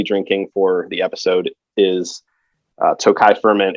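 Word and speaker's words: Tokaj: versions are usually uh from an area called tokai which is spelled differently depending on where you're buying it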